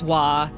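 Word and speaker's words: は: It's pronounced like it's written as ha but it's spoken as wah.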